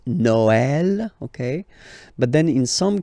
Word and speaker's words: Noël: The last one, tréma, well, basically it's quite rare, and the tricky thing is that in some cases you will have to pronounce it like eh, okay, like for instance Noël, okay, but then in some cases as well it can be pronounced like e, okay.